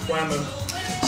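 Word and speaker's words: Wamuu: series is named after a band I'm sorry WAMU it's Wu Wu it's pronounced WAMU so they uh they they they put some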